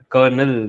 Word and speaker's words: colonel: colon that is right so you end up pronouncing as a kernel but then it is Colonel right and uh yeah